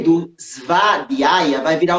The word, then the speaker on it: Svadhyaya: E esse segundo A, esse primeiro A da palavra vai ser longo. Sua. Aí vai aparecer um DHY, que a gente vai pronunciar como Ri. Svadhyaya.